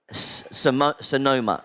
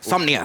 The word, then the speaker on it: Somnia: Um and you obviously and you have uh Sonoma is that correct? Somnia. Somnia sorry apologize pronunciation.